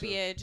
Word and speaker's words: verbiage: That's actually that's actually the right way to say it, and I had a debate with an employee because I thought it was wrong. But if you Google it, that is how it's pronounced. I sometimes said verbiage too, like that's what I thought. But verbiage is actually the correct way.